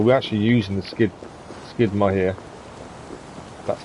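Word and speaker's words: Skíðblaðnir: you don't so we're actually using the skid skidmer here that's how you say it um downside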